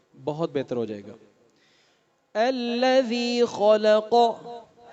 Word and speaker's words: الذی: الذی خلق. ذال جو ہے اس کو نرم پڑھنا ہے. زبان کی نوک، دانتوں کی نوک یہاں سے ادا ہوتا ہے. الذی.